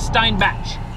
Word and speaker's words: Steinbach: of steinback on Google steinback is spelled with the E before the i s t e i n b a c h so sort of like Stein batch well hello totally different